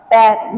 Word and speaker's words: père: For example, per, per, without any accent, this word is per, p and r, per. But in French, this word pronounced as père, which means father.